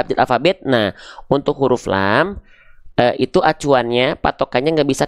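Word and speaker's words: ل: Ya, di sini kita mendapati namanya huruf lam. Ketika dia belum berharokat namanya adalah lam. Jangan sebut huruf la. Nggak ada huruf hijaiyah yang namanya huruf la ya. Oke, ini namanya adalah lam.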